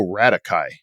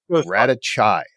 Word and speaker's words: Radocaj: a special guest with us today Mr rakai I think I'm pronouncing that correctly from Florida of balance HVAC